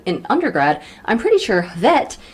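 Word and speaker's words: hwæt: undergrad i'm pretty sure vet is pronounced with a soft w and a short flat a sound the honest to god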